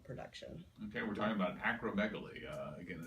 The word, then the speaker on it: acromegaly: Acromegaly. Acromegaly. Just like it's spelled.